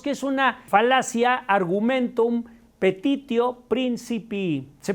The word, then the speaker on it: petitio principii: En filosofía diríamos que es una falacia argumentum petitio principii. Se pronuncia petitio principii en latín y significa petición de principio.